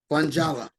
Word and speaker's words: Funjala: No, Wayne, it's Jala. Funjala. Victor Orlando and Funjala. Wayne. F-U-N. Capital letters, Jala.